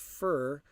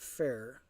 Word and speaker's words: Fur: Just want to let you know, my name is pronounced Fur, not Fair. Fur, as short for. My nickname is Fur. Like the furry animal on 4 legs. Fur, thank you.